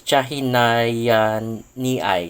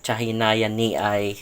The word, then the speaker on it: chahinianii: sorry I'm I'm not very uh used to pronounce it but it's chahay ni chahay ni uh species of CIA so it's kind of